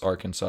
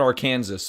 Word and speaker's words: Arkansas: you pronounce that word is it Arkansas yes Arkansas it's not Arkansas although it should be yeah uh I went